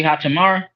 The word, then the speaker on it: Hachimura: Hach, Rui Hachimura.